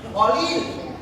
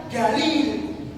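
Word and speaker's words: قليل: Ya, kalau orang Arab, orang Saudi Arabia sama orang Yaman ini dibaca Qalil. Dia bacanya Qalil. Orang Yaman sama orang Saudi Arabia membaca Galil. Apa? Galil. Kok sedikit sekali? Galil jiddan. Huruf Qaf ini kalau orang Saudi baca Ga.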